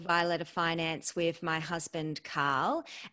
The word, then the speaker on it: Violeta: And I love that you pronounce my name the same way that I pronounce it. And I don't know if it's correct or not, but that's how I pronounce my name, Violeta.